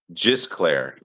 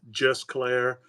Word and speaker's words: Gisclair: Jclair. So, some people don't know how to say it. Jclair. Jysclair. Pronounced with a J, spelled with a G.